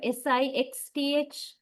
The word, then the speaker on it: sixth: Pay attention to your tongue, right? Especially when you pronounce the middle part of the word. Somewhere in the middle, where you pronounce X, sixth.